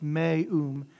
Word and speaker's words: meum: So it's me-um, right, and me-a, right, gloria, so you pronounce every vowel, gloria.